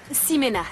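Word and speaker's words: Ximena: Toi, c'est Chimena, c'est ça? Simena, ça se prononce Simena.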